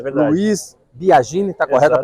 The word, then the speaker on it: Luiz Biagini: Luiz Biagini, está correta a pronúncia?